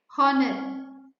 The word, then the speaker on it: honor: h is silent right honor honest man h is silent right so you should add